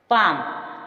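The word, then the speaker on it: palm: एम एफ के एवं डी से पूर्व एल साइलेंट रहता है पाम पाम मींस हथेली साम साम मींस भजन हाफ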